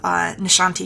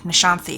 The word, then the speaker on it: Nishanthi: Blackwell, where we have Nishanti Sharma, and I see it, and I always think Nishanthi, because it's spelled that way, but no. I have to remember the correct pronunciation.